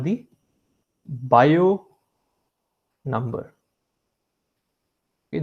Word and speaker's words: Biot: It's called the Biot number. Okay, the T is silent here. It's called the Biot number.